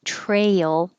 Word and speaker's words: trail: Follow the rule. When two vowels go walking, the first one does the talking and he says his name. So you look at the two vowels together, and the name of the letter in the first position is A. So it sounds like A.